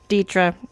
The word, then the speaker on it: Detra: that datra story yeah I get called Detra 98% of the time but you said it correctly datra so good for you